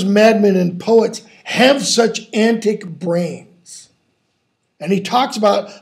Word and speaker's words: antic: antic and why not antique okay one because of the meter and tick syllable stress on the first one rather than antique second one two antic which is the proper elizabethan pronunciation also suggests two possible